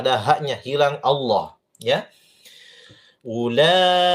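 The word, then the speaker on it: أولئك: Ula 5 harokat. Ya. Ulaika, jangan cuma 3 harokat. Ulaika, panjangkan sedikit dan sabar.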